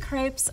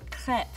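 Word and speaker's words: crêpe: or roll without tearing now there's a lot of dispute on actually how you say crepe i myself say crepe you may have heard the word pronounced as crepe but if we were in france we would say crepe a la francais either way they are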